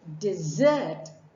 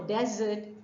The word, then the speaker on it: dessert: say dessert that's right it is not uh you're the person that you have or the cold cake that you have or the ice cream that you have at the end of your meal is not a desert it is dessert the soldier decided to